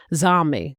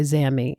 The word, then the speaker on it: Zami: I'm I'm from the Midwest and so I think uh all my life it it would have been pronounced uh zombie. But when in the south I I've noticed a lot of people say zami.